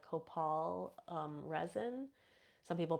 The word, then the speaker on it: copal: Like I always burn like copal resin. Some people pronounce it copal, but I burn that resin when one of